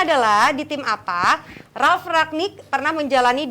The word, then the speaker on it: Rangnick: Tadi pertanyaannya adalah di tim apa Ralf Rangnick pernah menjalani 2 peran sebagai pemain sekaligus sebagai pelatih. Nah, jawabannya adalah tahu sebagai apa? Nah, Kapan? namanya Rangnick bukan Ragnik.